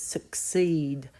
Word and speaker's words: succeed: 2 syllables, suck, seed. The k in suck is from the cat box, and seed actually starts with a s from the city box.